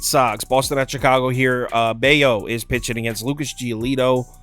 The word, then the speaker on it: Bello: So Brian Bayo has become a bet-on pitcher for me. He's pitching so well that I've actually started pronouncing his name correctly. I was saying Bello forever.